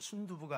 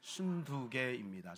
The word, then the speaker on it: 순두게: 그리고 순두개는 발음을 잘해야 됩니다. 순두부가 아니라 순두개입니다. 순두개.